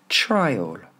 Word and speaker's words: trial: Si on parle d'un procès, try, on pourrait l'écrire comme ça, tout essayer. Try all, try all. Try all une fois qu'on a mis l'accentonique sur la première, dernière fois. Trial.